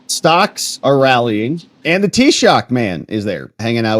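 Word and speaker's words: Taoiseach: what that looked like t-shock is how you say it thank you Aus fod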